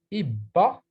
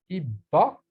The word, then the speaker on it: Ibba: plus ou moins forte, c'est-à-dire qu'on double la lettre qu'on prononce. On va donner des exemples comme Ibba, Ibba, ma tante paternelle, Ifous,